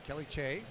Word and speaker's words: Kelly Che: I was talking to her coach, Mark Tremblay, pulled me aside and introduced to this young lady, and proper pronunciation is Kelly Che.